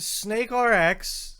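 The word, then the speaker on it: SNKRX: okay okay i'm pitching hands are up the snake rx is what he calls it it is spelled snk rx don't know what to to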